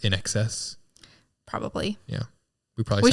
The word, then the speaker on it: INXS: Do you think it's supposed to be pronounced in excess?